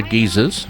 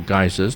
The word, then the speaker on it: geyser: the ground all other geezers or geysers depending on your pronunciation and named after the